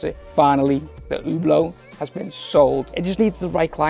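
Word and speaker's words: Hublot: just sold the oblo yeah that's how you pronounce it finally the oblo has been sold it just needed the right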